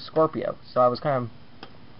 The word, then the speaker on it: Scorpio: which I actually realize I was mispronouncing that I thought I was scopia when I was his Scorpio so I was kind